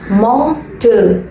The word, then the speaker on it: mortal: MORTAL வந்திருக்கு, பட் ஆர்ன்ற word இதுல silent. So நம்ம எப்படி ப்ரொனவுன்ஸ் பண்ணணும்னா மார்டல், மார்டல்.